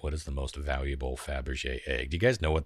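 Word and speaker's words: Fabergé: was saying it wrong i was saying fabra jay it's faberge faberge egg in the world and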